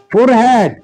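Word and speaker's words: forehead: কপাল, ফোরহেড, FOREAD। অনেকে Johns আবার এটাকে ফরিড উচ্চারণ করেছেন, ফরিড। তো আমরা ফোরহেড বলে থাকি, ফোরহেড।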